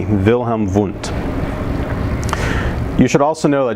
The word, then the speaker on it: Wilhelm Wundt: looks like it's pronounced Wilhelm wundt it's pronounced vill Hammond because he's German so the W becomes a V Vilhelm vote you should also know